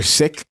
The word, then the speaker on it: Sikh: So like, yeah, everybody, they're either sick, right? Which is the real pronunciation, the correct pronunciation of Sikh. The Sikh is wrong.